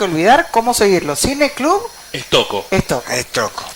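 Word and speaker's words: Stocco: Bueno, decirle a la audiencia que nos pueden seguir en nuestras redes, Cineclub Estoco, estamos como en Instagram, también pueden seguir a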